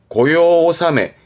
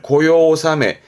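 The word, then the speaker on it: 御用納め: 발음은 고요오사메 용무가 끝났다는 뜻인데 뭐 회사라든가 관공서에서 연말에 업무를 마치는 종무식을 합니다. 그 종무식을 고요오사메 반대로 시무식 할 때 새로 시작할 때 시무식은 고요하지메 이런 식으로도 받으면 좋겠습니다.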